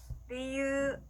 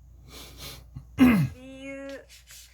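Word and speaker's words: りゆう: 자, 이유라고 하는 일본어 단어는요, 리유라고 하는데요. 자, 유우라고 따로따로 읽어주는 게 아니라 유를 그대로 늘려줍니다. 자, 따라해볼게요. 리유, 리유.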